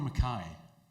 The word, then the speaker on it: Mackay: I've always wanted this, because are you McKay or Mackay? Mackay. Good man. That's how it's said.